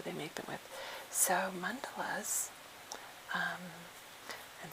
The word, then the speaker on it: mandala: So, mandelas um and some people say mandala, but um the uh actual pronouncing dictionary says mandela.